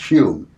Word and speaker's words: Home: Doug dunglas home or who would be pronounced spelled h o m pronounced hum arguably the greatest physical